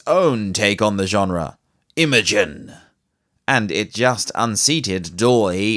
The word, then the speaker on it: Imagen: Imogen is spelled IMAGEN.